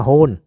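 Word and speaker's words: Huhn: Nó phát âm giống giống con chó ha. Nhưng mà nó hun. Con chó là hunt.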